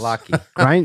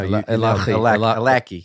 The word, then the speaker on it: Allachie: How do you pronounce this? Alaki. Grinder's got the Gaelic. Can you here. give me the Gaelic as you rub your eyes? No, Alaki.